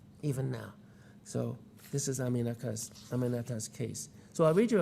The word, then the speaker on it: Aminata: We worked on my first name for a while. After 3 tries, she got it. Aminata. 4 syllables. It's really not that hard. Aminata, I told her.